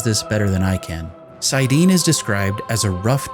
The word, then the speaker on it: Saidin: The male half of the true source is called Saidin, which is sometimes pronounced as Saidin.